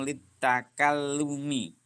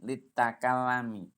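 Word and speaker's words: لِلتَّكَلُّمِ: Ana ya Ustadz fa'amal famu litakallumi. Bukan litakalami.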